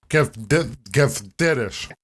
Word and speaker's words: Keftedes: So I've been telling people that I'm making Keftedes. You know what? You're not too far away. It's Keftedes. Keftedes? Yeah, but like the D is more like a TH sound. Keftedes.